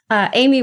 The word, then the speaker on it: Aimee: So, Aimee, where can we find you online? Oh, yeah, that's a good question. I have a weird first name. It's Aimee, but it's spelled Aimee. It's French.